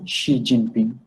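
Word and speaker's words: 习近平: Even তারপরে আসি এক্স এর ক্ষেত্রে, এক্সটাকে আমরা যখন চাইনিজে উচ্চারণ করবো তখন এটা উচ্চারণ হবে শি। যেমন চাইনিজ প্রেসিডেন্ট যিনি আছেন শি জিনপিং, তো ওনার উচ্চারণ কিন্তু ওনার নামের আদ্যক্ষর কিন্তু এভাবে শুরু হয়, এক্স আই, শি জিনপিং।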